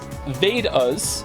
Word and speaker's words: Vedas: The Vedas, pronounced Vedas, and Upanishads, your pronunciation was quite close, are actually ancient Hindu texts.